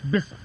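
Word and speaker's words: بسم: hamza because it's redundant, so it became bism, because that's the way it's pronounced, so it's bism.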